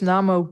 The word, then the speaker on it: Namo: The A that you see in transliterated texts is almost always the A in father.